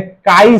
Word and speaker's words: chi: আচ্ছা, আবার binary solution, মোল fraction কে লেখা হয় এই সিম্বল দিয়ে, এক্স, অথবা এরকম, এটাকে বলে কাই সিম্বল। স্পেলিংটা CHI চি, কিন্তু প্রোনাউন্সিয়েশনটা কাই।